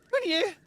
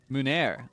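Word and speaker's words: meunière: Mounier? Oh wait, hold on. Let me see. Munair. Ah, so I don't even pronounce the muni, like the ie. It's just munair.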